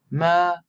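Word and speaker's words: מרחפת: Ma-ra-he-fet. Ma-ra-he-fet. That's 4 syllables.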